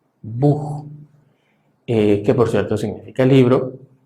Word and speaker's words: Buch: parte de los casos, sobre todo después de vocal, la tendencia es que esto se va a pronunciar prácticamente como una J, como por ejemplo en la palabra Buch, Buch, que por cierto significa libro.